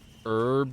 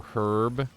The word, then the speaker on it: herb: Herb or herb? The H is silent.